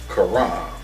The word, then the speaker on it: Karam: It's a lifeguard, Karam, and I may be pronouncing it incorrectly, but it's K-A-R-A-M, Karam Gulkham, G-U-L-K-H-A-M, and he's a lifeguard manager at that pool.